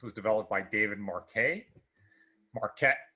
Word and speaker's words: Marquet: them is called the marquet leadership ladder this was developed by david marquet marquette the way it's pronounced sorry about that not marque marquette turn the ship around